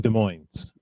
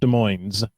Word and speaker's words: Des Moines: Oh, that's 8T820, both in Des Moines. That's Wow. Washington, and it's pronounced Des Moines, not Des Moines like they do in Iowa.